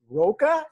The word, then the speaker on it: Roca: raining there his last name is i thought roca and his first name is luis is that yes pronounced yes sir it is that's correct yay